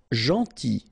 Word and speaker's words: gentil: Gentil. So it's a strange one because here this final L is not pronounced.